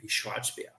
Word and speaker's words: Schwarzbier: Aber mein Deutsch ist dann sehr schlecht, aber das prononciert man wie Schwarzbier.